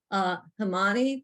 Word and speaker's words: Himani: Himani, do you want to speak? I'm probably pronouncing your name wrong. No, you actually pronounced it right.